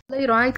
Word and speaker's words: playwright: Playwright, كاتب مسرحي. GH لا تنطق.